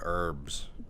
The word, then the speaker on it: herbs: You got the herbs. It sounds like oregano, like herbs, like. No. Let's spell with an H. The H is silent.